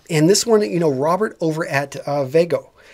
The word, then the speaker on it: Vvego: And this one, Robert over at Vago. And he's got two V's in the pronunciation of it.